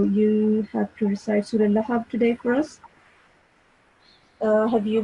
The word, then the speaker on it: لهب: Here, the sound of Ba is supposed to be pronounced with a jerk, because this is huruf qalqala. Ba is a huruf qalqala. So you're supposed to make make a jerk with the ba sound at the end.